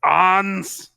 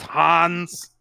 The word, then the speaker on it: Hans: It is pronounced Hans, not Hans.